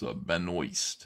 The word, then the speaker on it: Benoist: It's Benoist, it's pronounced.